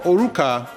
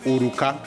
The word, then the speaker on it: Oruka: you know anyway um for oruca well it's actually uruka okay that is that is uh how to pronounce that word uruka means wedding band